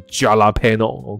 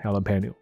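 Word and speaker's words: jalapeño: 好，所以这个 J 开头它不是 jalapeno， OK，它是 H 的发音，OK， jalapeno，所以这个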